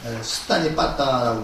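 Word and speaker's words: Sutta Nipāta: 그래서 이걸 번역하면 경집 이렇게 번역을 하는데 숫다 니빠따라고 읽어야 되죠.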